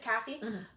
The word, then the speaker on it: Cassie: So after Casey's lawsuits, or Casey or Cassie? I'm so sorry if I'm getting her name wrong. It's Cassie.